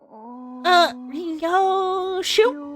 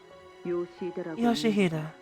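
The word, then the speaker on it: 良秀: Ryoshu? No, that's not how you read those letters. Yoshihide, that's how you say it.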